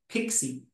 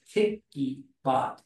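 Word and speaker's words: PiccyBot: who developed it and it's actually called picky as in picture so it's picky bot is what he intended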